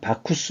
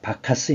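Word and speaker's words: Bacchus: 이라고 합니다 근데이 디오니소스가 로마로 넘어가면 이름이 바쿠스 그래요 바쿠스 그래서 로마에서는 바쿠스 수의 신이죠 그래서 이제이 이름 따 가지고 영어식으로 발음하는게 바카스 있니다 바카스 그래 갖고요 뒤에요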